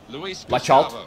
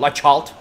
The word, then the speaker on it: Laxalt: Laxalt. Bak öyle okunuyormuş bu arada. Onu da yine öyle. Laxalt.